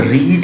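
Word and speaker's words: read: रीड का रीड spelling में एक ही रहेगा, लेकिन प्रोनाउंसिएशन अलग अलग हो जाएगा, रीड रेड, ठीक है।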